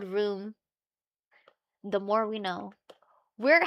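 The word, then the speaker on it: rheum: The medical term is room. It's spelled R H EU M. Official term for the clear crusty mucus that builds up overnight. It's called room.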